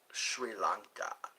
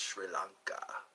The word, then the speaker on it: Sri Lanka: Sri Lanka. That's how it's pronounced, Sri Lanka.